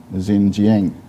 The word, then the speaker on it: Xinjiang: the people of east turkestan which china call xinjiang if i am pronouncing it correctly sister tunisia uh can you